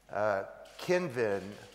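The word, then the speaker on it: Cynefin: Now, I'm not a complexity expert, but in my sort of lay study of the topic, I think that Dave Snowden's Kinvin, as it's pronounced, model is a good one.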